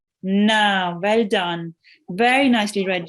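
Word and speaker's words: نَ: And noon with the fatha is pronounced? Da. Na.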